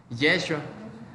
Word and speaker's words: Yeshua: ¿Y cómo se pronuncia el nombre de Jesús? Yeshua.